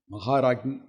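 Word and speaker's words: Maharajni: Maharagni means, some people pronounce it wrongly as Rangi. It is not Rangi, it is Ragi. Maharagni.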